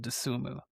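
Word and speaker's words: Dosunmu: I cannot pronounce it for some reason. Desumu.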